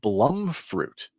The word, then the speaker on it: blumfruit: and they are picking blum fruit. It's spelled bloom fruit with a U, but it's blum fruit. Judy Blum. Judy Blum, yeah.